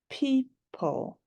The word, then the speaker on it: people: and this one is people people there's a heart there because the E is saying long e it says its own name PE the O is silent don't hear it P